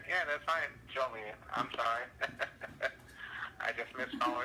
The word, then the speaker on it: Joliet: It's not Juliet. It's Joliet Uh-huh. with an O. Joliet. Yeah, that's fine. Joliet.